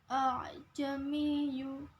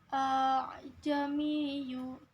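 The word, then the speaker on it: أَأَعْجَمِيٌّ: Ajamiyu yaitu termasuk hukum bacaan tashil. Cara membacanya dengan menghilangkan huruf hamzah yang kedua dengan menggantinya sebagai alif yang mati, artinya memanjangkan hamzah di depannya. Ajamiyu Qul huwalladzina termasuk hukum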